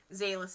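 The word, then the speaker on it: Xalyth: names down so i don't forget them and zaylus is spelled x a l y t h um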